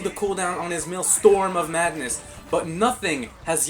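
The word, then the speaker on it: Maelstrom: Reduce the mill storm, please, because that's how you pronounce it. male storm of madness conversion ratio of dark magic to damage from 1.3 to 1.2.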